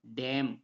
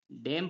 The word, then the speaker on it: damn: उसी प्रकार next word है DAMN, तो DAMN में क्या हो रहा है? एम आ रहा है, एम के बाद एन आ रहा है तो एन क्या हो जाएगा? यहाँ पर साइलेंट हो जाएगा। तो इसे पढ़ेंगे हम डैम। क्या पढ़ेंगे? इसे डैम पढ़ेंगे।